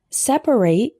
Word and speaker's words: separate: Separate with 3 syllables is a verb referring to the action of setting things apart.